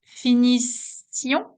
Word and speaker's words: finissions: You see, the I is the only difference between these two. It means that if you don't pronounce the I, I'm going to understand, well, I might understand that you are in the present. If you pronounce the I, well, it's going to be clearer. We are in the past, and that's the imperfect.